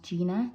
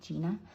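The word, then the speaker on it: Jina: got a request from, I think it's pronounced Gina, J-I-N-A, Gina, and she's requested Iron Man.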